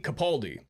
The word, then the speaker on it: Capaldi: Capadelli? Capaldi.